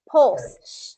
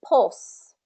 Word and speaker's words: pulse: like pulse pulse yeah pulse so it has that dark L again where we don't really touch the L to the RO for our mouth it's just pulse pulse pulse pulse exactly same here